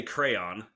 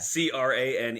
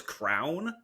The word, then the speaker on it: crayon: So I say crayon. Oh, yeah. I say crayon. Oh, okay. CRANE is how Christian says it. So one of the craziest pronunciations I've heard so far is crown.